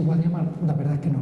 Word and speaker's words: Guadiamar: en el siglo XV todavía se pronunciaba se acentuaba guadiamar Cuándo ha comenzado a decirse guadiamar la verdad es que